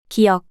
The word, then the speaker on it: 기역: The consonant Giyeok sounds like the G sound you make when you pronounce the English word gun, and it looks similar.